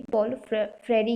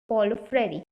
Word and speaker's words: Paulo Freire: Short में बोले तो पॉलो फ्रेरी, ओ साइलेंट है।